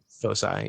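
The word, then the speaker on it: foci: Two fosi. Yeah. Fosai. Yeah, that's how you say it.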